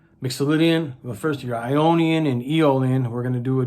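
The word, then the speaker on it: Aeolian: music mixian any eolian it's actually spelled a e o l i n but it's pronounce eolian and then longer locan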